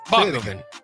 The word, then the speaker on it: Bockoven: How do you say it? Bockoven. Yeah, it's just Bockoven, but it's spelled different.